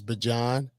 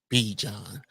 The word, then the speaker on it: Bijan: think he said now I looked up how he pronounces his name he says he his mother says Bajan and he says he started calling himself B John so I'm gonna call